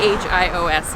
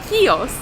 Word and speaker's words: Chios: avant de venir ici, j'ai honnêtement supposé qu'en anglais, nous prononcerions cette île comme Chio, c'est chi oos, mais apparemment, ce que j'ai lu en ligne, c'est que la prononciation anglaise correcte est Kos et la prononciation grecque est hios alors comment tu le dis en fait ouais soos hios Kos je pense que c'est lui les locaux disent hios c'est ce que nous